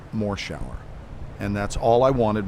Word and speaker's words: Morshower: And from that point on, which was when I was 16 years old, people read the credits and they then said more shower.